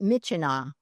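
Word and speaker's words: Myitkyina: This is this is pronounced Mitchina according to pilots that I've talked to.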